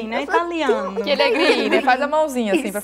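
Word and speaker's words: Chierighini: Como é que se pronuncia? Chierigrini, né? Italiano. Chierigrini, faz a mãozinha assim para falar mesmo.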